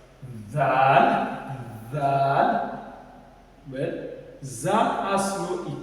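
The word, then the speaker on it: دال: Dal. Dal is like equivalent to like D in the English alphabet. Dal, Dal.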